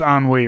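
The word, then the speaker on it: ennui: feeling a lot of enui about this particular uh tv show and wish to learn more i know that's pronounced on wheat right i mean i i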